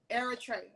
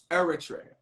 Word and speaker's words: Eritrea: it properly for me I'm sure it says Eritrea Eritrea Eritrea I'll return it right like a Trey Trey Trey okay and you went